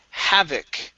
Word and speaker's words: havoc: up is the word havoc okay so our stress is at the very beginning havoc havoc okay very